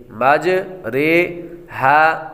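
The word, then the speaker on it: مجریها: امالہ کی را کو اردو کے لفظ قطرے کی را کی طرح پڑھے، یعنی ری نہیں بلکہ رے پڑھے۔ اس کی وضاحت بھی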